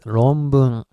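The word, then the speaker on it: 論文: And as I've said in previous video, N is supposed to be pronounced as M because next one is B, right? So anyway, it's ronbun, which means thesis.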